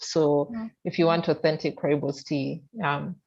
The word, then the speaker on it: rooibos: rooibos. Rooibos. I think that's how they say it. I Rooibos. know it has double. Also, Uh, you're inclined to say roux, but I think it's rooibos.